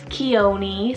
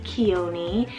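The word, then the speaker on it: Khione: Chione, spelled K-H-I-O-N-E, Chione.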